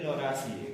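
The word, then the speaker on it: Lauraceae: CEAE, इसे pronunciation हम रुटासी ही करते हैं, पिनासीए करते हैं, और इसके बाद करते हैं लोरासीए।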